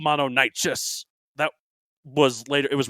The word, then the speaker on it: Mononykus: Mononykus? Mononykus. Well, think of the Greek. It's pronounced the same sort of way, like Chiron.